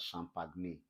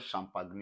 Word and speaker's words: champagne: like stretched s is the one we call what shh for instance you have the word champagne someone wants to pronounced this as champagne I died for two seconds and resurrected again please it's not champagne it is what champagne then this is what